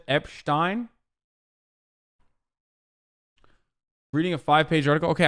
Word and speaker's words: Epstein: becomes pm uh pronouncing Epstein's name like Einstein famous anti-semitic Trope I say it all the time in Turkish it's Einstein and Epstein like that it's that's how you say it in Turkish I don't know why